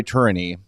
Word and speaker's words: Tourigny: Here is the quote from Andre Tourigny. I Google it, that's how you say it.